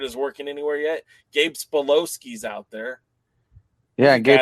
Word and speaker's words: Sapolsky: Gabe Spolowski's out there. Yeah, Gabe Sapolsky, too.